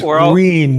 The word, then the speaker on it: Reen: know, I think it's Reen, not Renee. Reen is how you pronounce his name. Green, Like green, yeah.